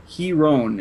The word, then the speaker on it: Heron: It looks like Heron is the correct way to pronounce that.